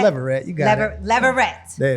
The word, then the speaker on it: Leverette: Leverette? Leverette, you got it.